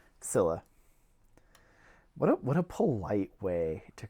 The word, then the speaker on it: Scylla: you want, but I believe it's Scylla. Scylla.